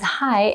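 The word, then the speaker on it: 嗨: by younger people so simply say hi as you would say it in english because hai is translated from english based on the pronunciation hi the next set of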